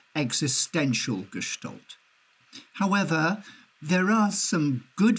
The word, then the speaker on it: Gestalt: Gestalt, that's how you pronounce it, Gestalt.